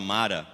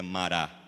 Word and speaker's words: Mará: Então chegaram a mará. Essa é a pronúncia correta, né? que tem mania de falar mara, mas é mará.